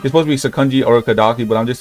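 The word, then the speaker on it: Sakonji Urokodaki: important people in the demon circle, which is Sakonji Orokodoki. Okay, that's how you say his name. Sakonji Orokodoki. Okay, it's supposed to be Sakonji Orokodaki, but I'm just saying it in my way, because you know it sounds cleaner.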